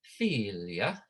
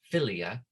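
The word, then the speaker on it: filia: those we know that it's not philia right it's philia right because that eye having a line over it filios is son remember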